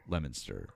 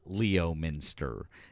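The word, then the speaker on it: Leominster: Lemonster uh is more us. But anyways, at least we're at least we're like way more on the same page than anyone else in the country who would see that word and go Leo minster. Um, and just be entirely wrong.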